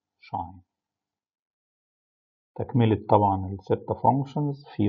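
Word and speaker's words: sinh: طيب اوعى تتخيل طبعا ان الشاين الاكس هي ساين اتش في اكس، لا ده الاتش ده رمز مع الساين على بعض وبننطقه شاين.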